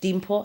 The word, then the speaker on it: Limpho: on Instagram at just Dimpho. I think you're gonna have to put a little scroll. Yeah. Because I have a trap name. It's not spelled how it's pronounced. Yeah, the L and the D.